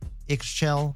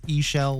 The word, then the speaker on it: Ixchel: For starters, I know her name looks like it's pronounced Ixell, but it's really Eshell like we saw in the intro. So, I don't want to hear any of you calling her Ichell.